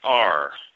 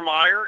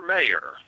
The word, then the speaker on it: Mayer: My baloney has a second name, Meyer. Yeah. Uh-huh. Not anymore. Oscar Mayer is spelled with an A now. Oscar Mayer.